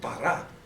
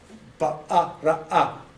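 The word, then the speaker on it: ברא: That's bara. Ba-a-ra-a. Silent aleph.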